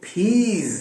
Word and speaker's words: peas: अलबत्ता PEAS piece नहीं है, वो फीज है, उसके आखिर में Z का साउंड आएगा।